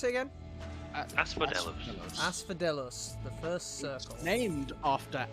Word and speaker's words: Asphodelos: How do you pronounce it again? Asphodelos. Asphodelos, the first circle.